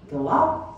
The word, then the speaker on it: Guillot: And now, mind you, the spelling, but G-U-I-L-L-O-T. Gio, maybe? Gallot? That's how the family chose to pronounce their name.